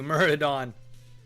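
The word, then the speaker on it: Maraudon: It's Thank you, Muridon. It's the next dungeon. You probably get better stuff from there. Let's just take a look. While you guys are tenting, I'll take a look at what Muridon has.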